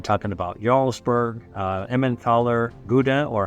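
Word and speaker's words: Gouda: northern Europe you're talking about ybur uh emmenthaler GDA or Howa that's how they pronounce it uh in NE is cheeses these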